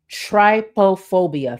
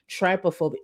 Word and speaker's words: trypophobia: Oh, tryophobia. Thank you. Thank you. If I ever mispronounce something, feel free to do this. Trypophobia.